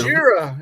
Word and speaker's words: Gojira: There, Gojira. I don't know how to say it. Gojira, yeah. Gojira, that's how you say it.